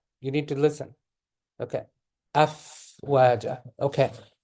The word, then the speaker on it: أفواجا: Afwaja. Okay. So let the air come out. Okay. Don't wait for it to finish. What I'm saying is don't block it. Okay. Don't block it. Don't say af.